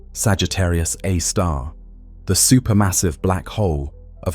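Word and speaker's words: Sagittarius A*: Now, at the very core, at the precise center of the Milky Way's rotation, resides Sagittarius A, pronounced Sagittarius A star, the supermassive black hole of about 4 million times the mass of our Sun.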